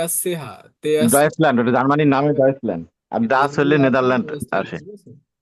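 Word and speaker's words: Deutschland: ওটা তো নামেই, জার্মানের নাম হলো ডয়েচল্যান্ড। এটা ডয়েচল্যান্ড ভাই, যে তে আসছে, হা তে আসছে, ডয়েচল্যান্ড, ওটা জার্মানির নামে ডয়েচল্যান্ড, আর ডাচ হলে নেদারল্যান্ড আসে।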